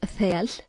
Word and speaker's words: þel: The inner layer of wool is soft and warm, called thel, pronounced thel, good for soft, warm clothes.